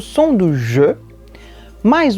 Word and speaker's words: je: Mais uma vez, atenção à pronúncia, a boca do é je.